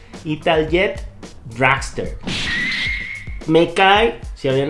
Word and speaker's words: Italjet: En el puesto número 3, Italjet. Es que así se pronuncia en Italia. Italjet Dragster.